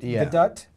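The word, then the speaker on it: Gadot: chips on him the Flash Wonder Woman G gadut could possibly gut that's how she pronounces it uh and uh well wait tell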